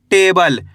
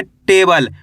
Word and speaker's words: टेबल: टा में एक की मात्रा टे ब ले, तो मिलकर बन जा टेबल। कैसे पढ़ेंगे? टेबल। आ रहा है समझ में? ऐसे नहीं पढ़ना आपको टबल।